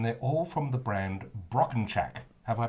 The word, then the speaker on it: Brockenchack: of us and they're all from the brand broken chak have i pronounced that correctly perfectly excellent wow uh there's